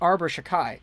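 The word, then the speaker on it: Arber Xhekaj: to look that up how in the heck do you pronounce arbor shakai but apparently it's arbor shakai so if that's incorrect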